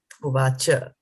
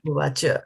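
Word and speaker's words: उवाच: So there is a A, C-A, Uvacha, right? We are not saying Uvach. We are saying Uvacha, right?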